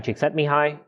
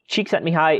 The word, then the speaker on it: Csikszentmihalyi: Flow theory was coined by Hungarian-American psychologist Mihaly Csikszentmihalyi. Yes, that's how you pronounce that. Csikszentmihalyi is most well known for his work in the study of happiness and creativity.